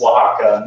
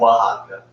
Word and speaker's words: Oaxaca: I don't even want to try to pronounce that, but simply make tacos with Oaxaca cheese. Oaxaca. Oaxaca.